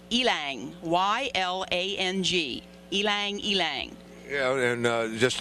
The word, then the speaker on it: ylang: I even had to look it up to find out how to pronounce it. It's ylang, Y-L-A-N-G, ylang.